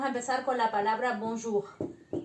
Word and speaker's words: bonjour: sentir acá de acuerdo nosotros hacemos acá adelante y los franceses la hacen acá atrás entonces es muy importante eso hacerla siempre que la habíamos escrito que se pronuncia atrás entonces yo como aprendí a hacerlo eso como cuando hacemos gárgaras es acá entonces sería bonjour de acuerdo bueno eso por